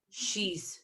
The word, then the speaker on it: she's: even when it's written she's swimming. Okay, don't pronounce the I because the I isn't here.